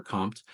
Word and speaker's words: COMT: Um and that's why we call it compt or compt.